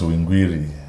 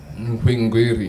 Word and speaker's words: Hwingwiri: So I think it should be pronounced Hwingwiri. Hwingwiri. Something like that.